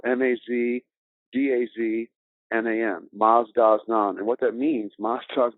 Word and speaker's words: Mazdaznan: of canada currently is publishing that book and it's spelled m-a-z-d-a-z-n-a-n maz-daz-naam and what that means maastros done means master